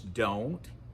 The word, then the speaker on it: don't: Now, notice when you pronounce don't in English, the sound of the O is O. It moves. O. Don't. Don't. We make a circle, O, with our mouth. This sound may be a little bit different than the O in your own language.